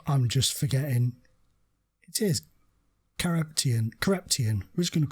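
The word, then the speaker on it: Karapetyan: It is Carepetian.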